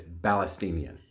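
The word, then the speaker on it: فلسطين: So, by the way, there's no P in Arabic, okay? It's actually pronounced Palestine. So if you are a so-called Palestinian, you actually, in Arabic, it's Palestinian. Palestinian. It's actually, in transliteration, it's spelled with an F.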